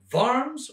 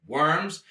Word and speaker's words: Worms: at the diet of farms or worms germans pronounce it with a v i use w v i go back and forth you know just to keep